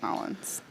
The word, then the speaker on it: New Orleans: That's how the locals say it, Nolans.